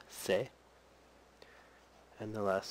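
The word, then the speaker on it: せ: u sound so TSU the next sound is the e sound say and the last sound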